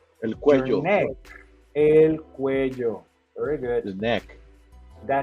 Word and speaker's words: cuello: Remember, in this case, double L is like a J sound.